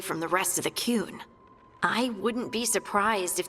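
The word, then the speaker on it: Qun: Yeah, also, I have been brought up on my pronunciation of the Kun, because apparently it should be the Kun, not the Kun.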